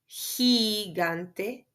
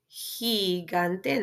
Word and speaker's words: gigante: So you have ganar, Gerardo, the same effect with the G-I, gigante, gigante.